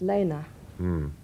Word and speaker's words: Lene: The first part of my name is German, and it's pronounced Lena.